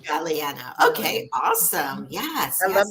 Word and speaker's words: Galeano: good yes I want to make sure we pronounce your name correct you know if it's a long a or short a Tara Galliano Galliano okay awesome yes I love that artwork behind